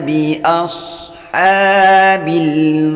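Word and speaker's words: أَصْحَابِ: Alam tara kaifa fa'ala rabbuka bi ashabil fil. Perhatikan ada shad sukun, jangan sampai memantul. Bi ashabil, jadi membacanya diayun. Kalau dipantulkan seperti ini. Bi rabbuka bi tidak boleh, harus diayun.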